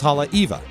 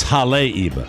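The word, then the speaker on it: Haleiwa: send those were two that they send specific pronouncers for I would have said de Delano too but it's deleno and it's Hal Eva it's Hal Eva I forgive me I don't have it in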